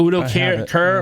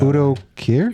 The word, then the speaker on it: Udo Kier: Udo Kier.